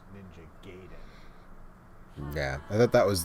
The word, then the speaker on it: Gaiden: And sort of funny because I think most people know now that it's Gaiden, but I and a lot of people when we were younger, said Gaiden.